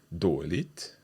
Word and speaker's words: dåligt: So let's hear these three sounds again, - "På". - "På". - "Dåligt". - "Förlåt". Okay. So it's a longer 'å' sound for all of these.